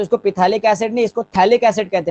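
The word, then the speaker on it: phthalic acid: इसके common name, कई लोग इसको पिथैलिक एसिड कहते हैं, पी भी जोड़ लेते हैं, मगर पीएच साइलेंट होता है, ठीक है। तो इसको पिथैलिक एसिड नहीं, इसको थैलिक एसिड कहते हैं, पीएच साइलेंट होता है, ठीक है।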